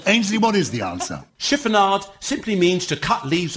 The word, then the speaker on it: chiffonade: Ainsley's pronouncing that wrong. It's chiffonade.